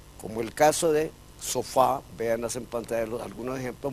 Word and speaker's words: sofá: en la última sílaba, porque la palabra es sofá, no sofa.